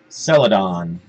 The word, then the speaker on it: Celadon: Celadon. Like the color.